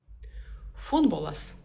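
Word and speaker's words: futbolas: Футболас. Футбол. Ударение обязательно на первый слог.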